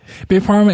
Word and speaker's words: Big Pharma: His company also published games such as Big Pharma. Am I pronouncing that right? Yeah, that's right. Big Pharma and Political Animals.